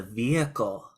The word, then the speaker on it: vehicle: I want to make a couple of pronunciation fixes. Omar, one word, vehicle. It's a vehicle.